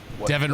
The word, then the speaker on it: Devin: Devin rhymes with Kevin.